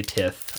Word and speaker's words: tithe: tith card or tithe i say tiff i know it's probably pronounced tied but i definitely say tiff because i read the card as written tiffy tiffy tithy either